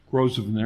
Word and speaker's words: Grosvenor: The Grosvenor building. Is that how you pronounce that name? Grosvenor.